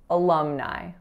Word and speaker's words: alumni: or institution will say so in alumni there's three syllables that first letter A is a schwa the second syllable is Lum so that lacks a sound and then the third syllable is Nye Nye alumni so our next word